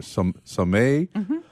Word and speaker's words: Sommet: Sommet. Wow. Enterprises, pronounced Sommet.